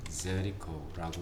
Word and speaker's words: Jericho: 예리코는 찾아봤더니 Jericho라고 읽고, 네, Jericho라고 읽고, 요즘에 팔레스타인의 지방 도시라고 합니다.